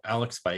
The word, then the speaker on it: Alex Faedo: I've even listened to his name this morning so I could pronounce it. Alex Faedo.